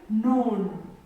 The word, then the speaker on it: known: We have another word like known. Known. This is a word like known. This k is silent. We don't pronounce this k. We read this word as known.